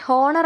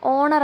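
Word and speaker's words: honour: ഇവിടെ ഹോണർ എന്ന് വായിക്കരുത്, ഓണർ എന്നാണ് കേട്ടോ ഉച്ചാരണം വരുന്നത്.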